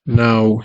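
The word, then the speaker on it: ناو: And it is pronounced as now, if you have to do it this way, if you have to use the English alphabet, now.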